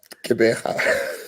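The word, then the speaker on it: Gqeberha: Please pronounce it for the benefit of those who. Cabanac.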